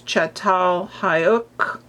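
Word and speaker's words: Çatalhöyük: We see art, painting, sculpture and you pronounce this chatal hayuk.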